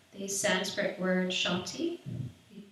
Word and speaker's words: Shanti: It's the Sanskrit word Shanti. We pronounce it 3 times.